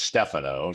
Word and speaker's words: Stefano: legal name, and so Stefano came out again, and that's I use both, but whatever people are happy or comfortable calling me, I go with. Well, I pronounced it wrong, so it's Stefano.